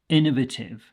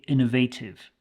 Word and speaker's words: innovative: Now, this is the way that I would pronounce it, but you will also hear people say innovative. Innovative, which makes sense because we do have the verb innovate, but you will hear both versions, innovative and innovative.